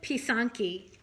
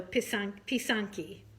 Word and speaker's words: Pysanky: You pronounce it Pysanky. P-E-E-S-A-N-K-Y would be like the phonetic spelling. So Pysanky. And one is a Pysanka. So Pysanka is singular, Pysanky is plural.